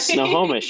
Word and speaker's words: Snohomish: and How do you even pronounce Snohomish, right? Snohomish.